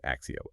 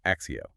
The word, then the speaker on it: ACCEO: It's spelled ACCES, but the way you actually say it is Axio. Axio.